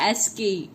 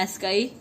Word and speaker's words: ASCII: एंड the code is pronounced एसके, जैसे मैं बोल रही हूँ एसकाई, like that is अ 7-bit code.